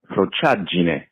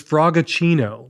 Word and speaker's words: frociaggine: The word is pronounced Prochadjine.